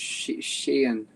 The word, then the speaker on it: Sheehan: You don't need to pronounce the H. Just Sheehan. Sheehan. Yep, you got it. I should have gotten this taken care of beforehand. My apologies. That's fine. I think they do pronounce the H where the name is from in Ireland, but I don't.